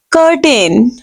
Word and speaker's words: curtain: No, there you can see U after C. You will pronounce the letter C like ka. Curtain.